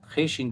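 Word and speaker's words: خوش: वाव पेश को, उनको, वाव साइलेंट है, खेशिन पे खुश, उनको खुश, नून ज़बर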